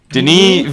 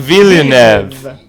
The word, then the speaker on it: Denis Villeneuve: Denis Villeneuve. Denis Villeneuve. It is silent in French.